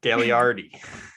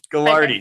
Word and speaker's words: Gagliardi: Gagliardi. Yeah, Gagliardi. So I'm the king of mispronouncing names, and I always feel terrible about it. I know the extra G there kind of throws everyone off, so no problem.